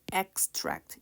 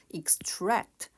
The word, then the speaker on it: extract: complex contrasting extract 자 발본 발라는 뜻일 때 extract 이음절 강세로 발음 되고요 사일 때는 이음절 강세로 extract 발하다 추출하다 뜻이 됩니다 advantage advantage OB passage